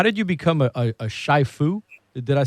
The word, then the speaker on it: shifu: Am I pronouncing it right? How did you become a shifu? Did I say it right? Shifu?